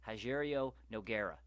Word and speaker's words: Nogueira: continued to call him what we've been calling him for years, and that is Rogério Nogueira. He wasn't pronouncing the G. He was pronouncing it weird, and it pissed me the fuck off.